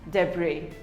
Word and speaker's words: debris: it is pronounced as debris the bree the s is silent debris we all have